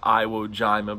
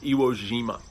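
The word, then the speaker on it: Iwo Jima: j i m IA it's not pronounced Iowa Jima but that's what it looks like it's pronounced gyro Jima and there's a very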